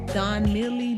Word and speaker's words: Donmily: sorry i said it wrong at first it's done nearly d-o-n-m-i-l-y it's the ombre highlighted pre-pluck 13x4 lace